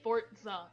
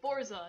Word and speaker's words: Forza: I don't like the way he fucking pronounces it, Forza. Like, there's no T, it's Forza, not Forza.